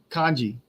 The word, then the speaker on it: kanji: So it's pronounced kanji.